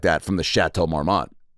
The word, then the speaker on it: Chateau Marmont: like that from the chateau marmot chateau marmon and then some people say it like that if they're an or they're starting ratatouille chateau marmont right and uh so i'm